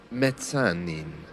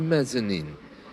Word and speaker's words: mezzanine: Some British people do try to pronounce the Italian word correctly, which has a harder Z sound, mezzanine, for example. But most of us who don't speak Italian just refer to it as the mezzanine, and it's the mezzanine in American English.